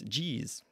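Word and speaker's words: Ge'ez: because if you look up online how to pronounce GE e and it's gez but yeah gz that's that's the Ethiopian really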